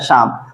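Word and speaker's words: psalm: कि इसको क्या पढ़ेंगे एस ए एम को केवल पढ़ा जा रहा है शाम बाकी दो लेटर इस हमारे क्या है साइलेंट है तो हमने सीखा कि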